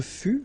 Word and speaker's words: fus: Je fus, okay, keep in mind that final S is not pronounced.